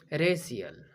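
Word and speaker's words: racial: दूसरा उदाहरण देखेंगे रेशियल।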